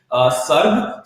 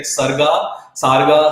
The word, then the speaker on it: Sarg: About the company's name, Sarg. So Sarg is something sort of a very uncommon name that usually people come across. Even people are like unable to pronounce it. They're like Sarga.